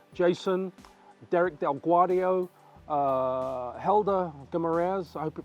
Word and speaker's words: Guimarães: Jason, Derek Del Guadio, Helder Guimarães, I hope you pronounced Helder's name right. Guimarães, if you want to say in Portuguese. Guimarães. And I think I still got it wrong.